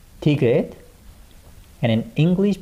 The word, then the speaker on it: 디귿: And next we have 1 and 2, 디귿. And in English pronunciation, it sounds like 디, 디.